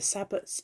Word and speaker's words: sabbat: 21st for the the sabbats of around that time so i didn't say what a sabbat was saba s-a-b-b-a-t it's been like sabbath without the h and they are the